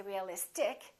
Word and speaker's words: realistic: ic in this case we don't stress the suffix but we stress the syllable immediately before the suffix realistic we don't say realistic we don't say realistic we say realistic electric electricity electric strategic